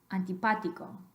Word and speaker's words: antipático: really emphasizing that accident you don't want to draw it out on the pot Tico you do want to give it a lecture on volume because of the accent work but not draw it out so you want antipático antipático instead of can be